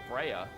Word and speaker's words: Freya: Yeah, it's Freya. Unless I'm mispronouncing it, and like my entire life is a lie, I'm fairly certain that that's just Freya.